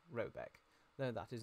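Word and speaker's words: Råbäck: in question is called to be called robic pronounced something like robec though that is not its name it is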